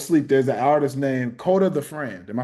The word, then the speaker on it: Kota the Friend: There's an artist named Kota the Friend. Am I saying it right? Yeah. Kota the Friend.